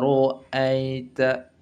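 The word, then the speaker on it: رَأَيْتَ: Maka tanda merah di sini ra-nya dibaca tebal. Wa ra'aita. Ya. Kita awali dulu dengan ta'awuz, lebih afdal. A'udzu billahi minasy syaithanir rajim. Wa ra'aitan nasa yadkhuluna fi dinillahi afwaja. Wa ra'aita wa ra'aita. Nah, tebal.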